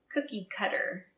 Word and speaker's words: cookie cutter: cute heartshaped cookie cutter notice the T sounds like a d cookie cutter and the other meaning